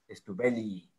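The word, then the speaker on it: stuebelii: Y muchas palabras en inglés no suenan todo, en latín es innecesario pronunciarlo todo, entonces en el Stubelli deben sonar las dos Ies, Stubelli, para que signifique el genitivo, que es el que significa pertenencia.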